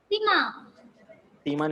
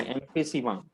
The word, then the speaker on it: emphysema: Pronounce भी कर बोल. Emphysema नहीं, emphysema.